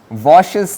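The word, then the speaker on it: Łoś: so that is called washes theorem it's a Polish name let me repeat the L symbol is pronounced as V and the S with this accent is pronounced as sh so washes theorem if you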